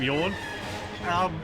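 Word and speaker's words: Jan: It's the way he pronounces his name. I would usually say Yarn. Without doubt. But he says Yawn, so I've just been calling him Yawn because that's what he says.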